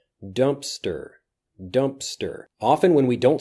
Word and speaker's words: Dumpster: Next, dumpster. Dumpster. There is a P in this, but it basically disappears. Dumpster. Dumpster.